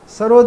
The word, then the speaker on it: सरोद: सरोद ये Persian word है, जैसे सितार भी पर्शियन वर्ड है। सहतार यानी तीन तार का बजा, और ये सरूद इसका उच्चारण है, सरूद डबल ओ के साथ, जिसका मतलब है नगमा, तरन्नुम, मौसिकी।